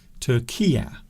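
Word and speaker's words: Türkiye: Turkiye is what people like to say now, or how they like to pronounce Turkey.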